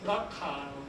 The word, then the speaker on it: BRCA: 했는가 하면요이 유전자 때문입니다 브라카 brca 하 있고요 어 BR 하는게 브레스트가거든요 브레스트 캔서 자입니다 그래서 브라고 읽고 브레스트라고도 하고 어쨌든 유방암을 유발하게 하는